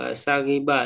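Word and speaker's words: ثغبة: dari Abi Dzar ya, dengan Sagibah, dengan apa, huruf sa-nya difathahkan, goin yang bertitik kasro, dan setelahnya apa, huruf ba ya yang titik satu itu di fathah, berarti sagibah dibacanya.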